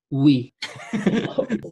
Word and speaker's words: oui: i i decided to call this oui which in french it's we i thought that was